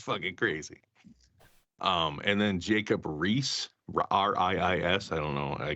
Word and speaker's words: Riis: And then Jacob Riis, R-I-I-S, I don't know, I guess that's how you say it.